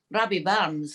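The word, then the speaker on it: Rabbie Burns: Which is about the iconic cultural icon, Robbie Barnes. That's how you pronounce it, is it?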